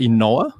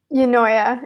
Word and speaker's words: Eunoia: Is it Enoa? Eunoia.